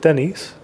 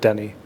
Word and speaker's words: Denis: just saying Denny like is it Denise or is it Denny it's Denny is it Denny yeah ass is silent I'm yeah I'm pretty